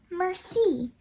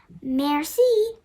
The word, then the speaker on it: merci: It's merci. You say it like this, merci.